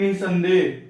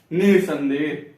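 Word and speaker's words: निःसंदेह: फिर देखिए निसंदेह, निह, संदेह। देखिए इस पे भी बल पड़ रहा है, निसंदेह पे, निसंदेह।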